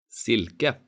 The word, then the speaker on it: silke: These words have a short vowel I and a long consonant L. Sill. Silke.